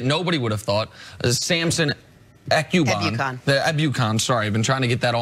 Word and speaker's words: Ebukam: correcting me on a pronunciation. I love Look at me. Look at me, baby girl. Okay. Ebukam.